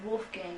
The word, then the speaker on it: Wolfgang: It's pronounced Wolfgang in Yeah, English, right. but it's Wolfgang. Wolfgang in German.